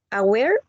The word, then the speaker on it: aware: word the word is aware and has 2 syllables. In the stress in the second one, aware. Aware.